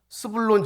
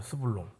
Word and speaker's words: 스불론: 반면에 이사갈 지파 그리고 스블론 지파이 발음을 잘해야 돼요. 스불론 예. 수불론 예 이사갈 수불론 지파 예 이름도 어색하고이 익숙하지 않은 연약하고 부족한 지파들이었습니다.